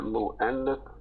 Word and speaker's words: مؤنث: Pronounce that mu'annath.